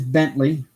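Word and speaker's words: Bentleigh: coffee her name is Bentley spelled like a Bentley le IgH but pronounced like the car and she is just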